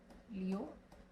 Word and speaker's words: Lyotard: The name is pronounced as Lyotard.